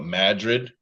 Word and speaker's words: Madrid: Iowa, we've got a town called Madrid. Well, it's spelled Madrid, but we call it Madrid.